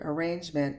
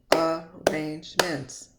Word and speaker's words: arrangement: I've taken the word arrangement and broken the syllables. Arrangements. I don't say arrangements. I say arrangement. There's only one R sound.